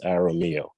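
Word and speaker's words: Jaramillo: i assume it's jarrah mio uh mr please spell your full name after uh you begin to speak hi good afternoon good evening it's um j-a-r-a-m-i-l-o-s pronounced arromeo good evening um board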